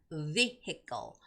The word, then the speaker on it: vehicle: So you have to stretch out your mouth when you're making that V sound. It's vehicle, vehicle, all right, vehicle.